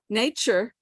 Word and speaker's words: nature: Nature, spelled with a T, used to be pronounced as a T. Now it's a ch.